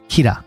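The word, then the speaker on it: Kira: to the public as kir which is basically a poor Japanese pronunciation of the word killer now the public doesn't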